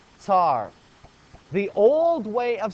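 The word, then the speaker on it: tsar: the way you spell it because it is pronounced tar the old way of spelling it is Cy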